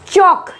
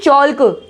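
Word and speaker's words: chalk: चौक, ना कि चौल्क, चौक, चौक, टॉक, टॉक।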